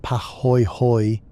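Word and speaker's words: pāhoehoe: Po pronounced paho hoy hoy is smooth and ropey flowing in billowy undulating patterns that look almost organic like frozen waves or coiled rope.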